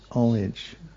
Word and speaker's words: homage: pronunciation, but I I I looked up the American pronunciation and the H is generally not pronounced is what is what it said. Yes. Homage. Homage. Homage. Homage. Omage.